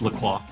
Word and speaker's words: La Croix: This is Croy, I think. Yeah, it's La Croix. Croix. The drink. Yeah. It's spelled with an X, of course.